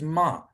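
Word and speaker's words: מה: so the first one ah halfway between cat and father is how you pronounce it so like in the hebrew word for what which is ma ma means what so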